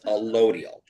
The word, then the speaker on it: allodial: Is there like I keep hearing this thing about, like, I think it's called allodial title? What you're referring to is allodial. Allodial, okay. Allodial. It's pronounced allodial title.